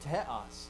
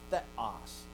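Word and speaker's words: θεός: So they said teos, not theos, teos. But everyone you hear will say theos, and that's fine.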